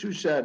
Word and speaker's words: Shuchat: my father rabbi wilfred we we pronounce it in english shushed in hebrew we say